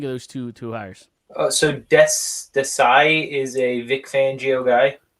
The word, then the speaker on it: Desai: Desai. Desai.